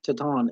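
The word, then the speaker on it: Titán: But anyways, uh Magnus or Magnum and Ti- Titan, Taton. Yeah, Taton is how they pronounce it.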